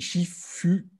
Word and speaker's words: Shifu: côtés de ton maître, donc Li Shefo, qui s'écrit Shifu, voilà, pour ceux qui ne savent pas, mais vous pourrez le voir dans la description aussi, voilà. Oui, Shifu, ça veut vraiment dire le maître, l'enseignant en chinois.